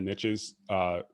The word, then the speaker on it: niche: riches are in the niches, it actually is true. Yeah, I say niche, but that doesn't rhyme with rich.